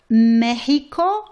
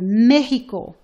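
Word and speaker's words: México: For example, in the word Mexico, it's pronounced like your H. It's the same sound of the J, okay? Ha, he, hi, ho, hu. So we have Mexico.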